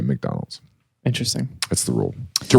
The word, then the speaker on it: McDonald's: the rule is though if it's MC and the next letter is a vowel it's Mac and Mac alroy or you know maoy Mary or uh you know but you wouldn't say MacDonald's You' say McDonald's inter that's the rule